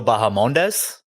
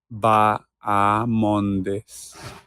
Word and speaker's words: Bahamondes: The H is silent. Correct. See, I said it more of like a Spanish way, though. You know, so that's what I get. You know, you injected the H, and that is where you faltered.